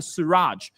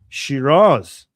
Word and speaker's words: Shiraz: And I'm not sure if I'll be able to show this on YouTube, but in the Siraj city of Iran. What? Shiraz.